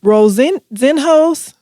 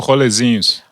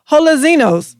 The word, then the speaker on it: rolezinhos: How do you say this word? Rolezinhos? Oh, Rolezinhos. Totally off. Rolezinhos.